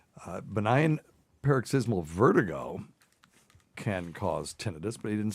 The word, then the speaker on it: tinnitus: We were always taught it was tinnitus. And if there was an I at the end, it would be tinnitus, except that we also have pruritus is spelled